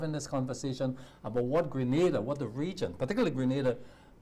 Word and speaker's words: Grenada: It's not Granada. It's Grenada.